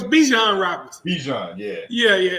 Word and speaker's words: Bijan: the thing no it's Bijan Roberts Bichon yeah yeah yeah it's pronounced like dijono but he nice though